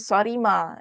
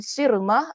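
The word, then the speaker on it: صرمة: sallallahualaihiwasallam cara sebutan nama sirmah itu ialah sad okey sad ra mim ta marbutah jadi sad itu berbaris bawah maka kita baca Qais bin sirmah al-ansari dalam kitab tu letak Qais Bin sarima jadi cara bacaan tu dan cara penulisan itu akan buat kita baca dengan dengan dengan baris yang Salahlah jadi saya minta agar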